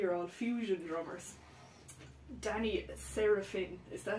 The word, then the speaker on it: Seraphine: my top three are all Fusion drummers Danny sarapin is that how you say his name seraphine sarapin uh wow like Powerhouse out and out